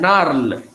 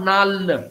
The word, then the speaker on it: narl: Now this word, for instance, narl. It is narl, N-A-R-L, and not nal. That's a dialectal pronunciation.